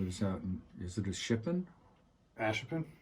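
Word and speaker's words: Ashippun: I have a friend who lives out in, is it a Shippen? Ashipin? Ashipin. Yeah, I keep saying the name wrong.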